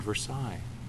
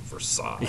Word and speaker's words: Versailles: she was nuts, because she was pronouncing it correctly and they had never heard that term. What kind of ignorant person calls it Versailles? Yeah. Never seen two L's?